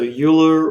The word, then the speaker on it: Euler: rotation speed multiplied by time delta time so euler or euler i've heard both pronunciations yule is the main one i've heard but i